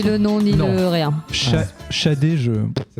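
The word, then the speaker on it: Sade: C'est Shadé. C'est Smooth Operator. Smooth Operator de Shadé.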